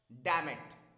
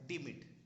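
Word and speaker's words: demit: वास्तव में इस शब्द को प्रोनाउंस किया जाता है डीमिट। इट इज नॉट डैमेट, इट इज डीमिट।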